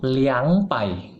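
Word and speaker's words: 两百: betul bukan repair ya khusus untuk dua itu bukan ngomong lebay yang betul itu liang pai ya liang pai ya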